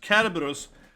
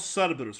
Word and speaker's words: Cerberus: Cerberus is how it's pronounced, okay? Not Cerberus, right? A lot of people say Cerberus, but it's supposed to be a K in that kind of old antique language of the C indicating.